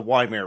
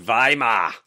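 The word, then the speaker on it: Weimar: Uh so yeah, the the the Yeah, the the Vimeir Republic period. Not not not 10 years later. I believe it's pronounced Vhimar.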